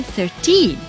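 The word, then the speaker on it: thirteen: but she is only 13 so in the word 30 the stress is on the first syllable 30 however in the word search field the stress is on the last syllable e 13 so you see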